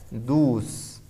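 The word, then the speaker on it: douze: La O y la U juntas en cualquier número o palabra en francés se pronuncian como U. Por eso en el 12, mira lo que dice. Dus. La E no la voy a pronunciar.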